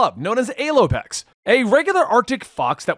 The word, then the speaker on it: Alopex: numerous situations and if you're curious about the pronunciation i actually googled this one to ensure i was saying it right but it's a-l-o-p-e-x and if you look it up it's a-lopex